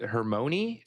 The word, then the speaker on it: Hermione: Yeah, my dad pronounced it Hermione, I think, with Hermione, something like that. And then we got the Harry Potter on tapes, and that's when we learned that it was Hermione.